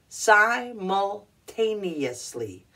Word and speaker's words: simultaneously: it you pronounce it simultaneously simultaneously emphasis is on the T yeah okay okay simultaneously